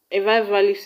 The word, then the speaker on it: revivalist: For example, ability is stressed in BI, registration is stressed in GIS, and revivalist is stressed in VI.